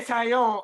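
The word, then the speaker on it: Taillon: Oh, you say Tyone. I pronounce it Talon, but I know who you're talking about.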